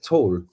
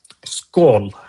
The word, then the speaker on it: skål: is it tall? Skål.